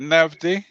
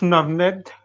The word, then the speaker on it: Navned: Is it Navdi? It's Navned, but you can call me Nav.